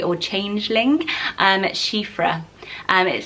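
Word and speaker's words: Síofra: kind of fairy or change link and that's she freh and it sounds very girl power it's a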